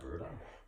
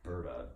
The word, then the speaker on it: Berta: Is that a Berta? Alberto? Oh, okay, because I'm hearing Berta in it, and I asked him to spell it, and he spelled it the way I'm saying it, B-E-R-T-A.